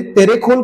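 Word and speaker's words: Terekhol: ती स्पेलिंग आहे तेरे तेरेखोल किल्ल्याचं नाव तिराखोल आहे अलोरना हे नाव तुम्हाला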